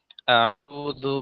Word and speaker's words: أعوذ: আউযু বিল্লাহি মিনাশ শাইতানির রাজীম। أعوذ بالله من الشيطان الرجيم আউযু, জালটা একটু নরম করে উচ্চারণ করতে হবে। জু না, জু। হ্যাঁ, এইভাবে।